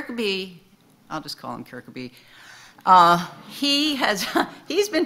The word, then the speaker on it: Kirkeby: to me our pair Kirkeby who is on your left and Frank Auerbach was on your right um the care could be painting and I guess in Danish it's pronounced kirika boo that painting is actually